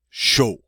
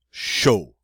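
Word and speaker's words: chaud: the next one avoir show I've wha show notice the D is silent the a use that o sound and what does that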